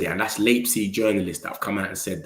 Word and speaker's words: Leipzig: Sorry, I can't pronounce Leipzig. Respectfully, Leipzig. Leipzig. Yeah, that's how they say it. Leipzig.